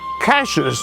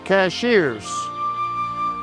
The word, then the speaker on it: Cashiers: You're in cashes, North Carolina. You'll find out later why it's not cashiers.